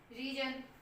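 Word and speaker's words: reason: ठीक है, तो अब देखो रीजन, ई ए आ गया, री बोल रहे हैं, रे नहीं बोल रहे, रीजन।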